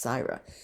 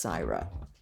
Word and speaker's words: Syra: was Sarah or Syra probably pronounced CRA s y r a sometimes known as sire but mostly referred to as CRA and I think would